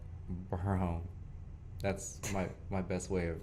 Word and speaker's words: Barron: and my last name is Barron. So All wrong. you gotta Okay. roll the R. So I've never been able to roll anything. So in the way I go like, Barron.